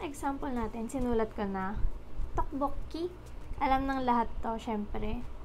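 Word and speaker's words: 떡볶이: Tokbokki. Alam ng lahat to, syempre. Si rice cake. Tok-bok-i. Tok-bok-ki. Sa unang syllable natin, itong si tok, yung ginamit natin.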